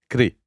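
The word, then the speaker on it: kṛ: The word karma is derived from the Sanskrit kri, roughly pronounced like kri, to do.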